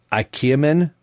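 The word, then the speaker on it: ikemen: the name of this so i'm going to spell it i-k-e-m-e-n so i believe it's ikea men series and i believe what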